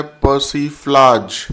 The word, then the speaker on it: persiflage: Daily vocab booster की series में डे 44 का आज का हमारा पहला वर्ड है पर्सफ्लाज। इसमें आर साइलेंट होता है पर्सफ्लाज।